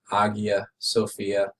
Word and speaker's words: Hagia Sophia: Actually, on the right, we have the Hagia Sophia, sometimes pronounced Hagia Sophia, but the Hagia Sophia is one of the most important churches in the history of the world.